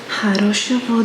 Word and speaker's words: хорошего: Хорошего дня. Хорошего дня. Have a nice day. Хорошего дня. And you'll see that there is a G, but we pronounce it like a V.